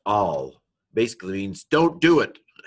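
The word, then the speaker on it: אַל: This is a Aleph, Patak, Lamed, and so this would be pronounced al.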